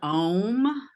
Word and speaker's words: Om: some people in my audience don't know what Om means? Can Right. you explain it a little bit? Yeah, as best I can. It's Om, om. It's a three-syllable Om.